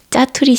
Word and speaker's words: 자투리: 자투리 시간이라고 하거든요 어 한국인들은 보통 세게 발음해서 짜투리 시간 짜투리 시간이라고 합니다 이런 짜투리 시간들을 잘